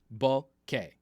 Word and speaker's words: bokeh: Only for the month of April, for my April Fool's joke, are we doing the bokeh shirts. Bokeh. Bokeh. This is how it's pronounced.